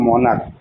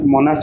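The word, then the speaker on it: monarch: stomach এটা আরেকটা হচ্ছে মনার্ক এম ও এন এ আর সি এইচ মনার্ক উচ্চারণ হচ্ছে মনার্ক ম দ ধনকা কয়েন ঠিক আছে কিন্তু লিখতে হবে মনার্চ কিন্তু উচ্চারণ মনার্জ করলে হবে না ঠিক আছে এই দুটো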